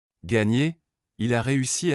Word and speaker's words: gagner: En français, la combinaison GN correspond au son ENE en espagnol et se prononce comme NI dans le mot anglais canyon. Gagner, il a réussi à gagner le concours de cuisine.